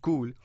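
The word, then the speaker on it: Cuil: or success the next company is cool it's pronounced cool but it spelled see you I else this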